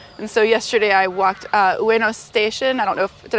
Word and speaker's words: Ueno: And so yesterday I walked Ueno Station. I don't know did I pronounce that right? Ueno Station, yes.